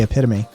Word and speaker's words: epitome: in america at least we say epitome and i i i have never understood that pronunciation like why is this not epitome it's it sounds it feels better it's got a better mouth feel epitome epitome i don't get it